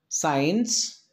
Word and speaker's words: science: words for example sent the second letter c is absolutely silent science it's not science it is science next descent sea silent